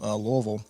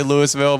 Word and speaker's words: Louisville: sorry no but Kentucky how do you say that again Lille Lille Lille you can call it Louisville no I would people I know not to say I know not to say Louisville but I'm like Louis Louisville